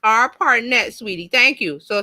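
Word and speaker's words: ARPANET: to change let's see okay Barb says it's pronounced R partnet sweetie thank you so it's R partnet the a r p a n t is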